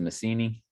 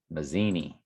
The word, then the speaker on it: Mazzini: or 1873 albert pike letters to messini i don't think i'm saying it right mazzini yeah it's with z's 1871 august 15 1871.